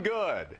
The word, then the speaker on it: Good: Good. Oh. It's got an E on the end, so some people pronounce it Goody, but it's just Good.